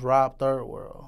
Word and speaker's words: Robiii World: My name, Robiii World, came from, it's actually pronounced Rob Third World, which is Third World Studios.